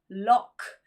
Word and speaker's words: lough: And finally, we have an OUGH sound. For example, lock and hock.